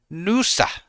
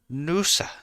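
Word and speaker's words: Noosa: You got to add a few more O's to say it like an Aussie. Nusa. Nusa. Nusa.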